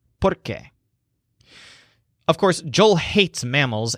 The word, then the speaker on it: porque: have to sell pork the word porque means because so note that the stressed syllable sounds like pork porque of course Joel hates